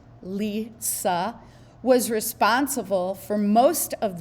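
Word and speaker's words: Li Si: Okay, Lisa, that's how it's pronounced, by the way, Lisa.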